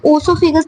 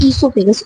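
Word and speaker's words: oesophagus: इसको ओसोफेगस नहीं कहेंगे, इसको हम बोलेंगे ईसोफेगस। ओ साइलेंट है।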